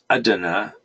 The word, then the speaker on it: Adana: 11 years old in Adana Turkey Idina as as if I can remember correctly that's how they say it however they had a